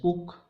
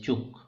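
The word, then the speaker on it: Ćuk: So some people call it as cook, some people call it as kak, and actually the pronunciation is chuk.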